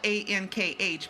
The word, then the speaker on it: ankh: It's spelled A-N-K-H, but it's called Ankh, and it's an Egyptian symbol that means life after death, everlasting life.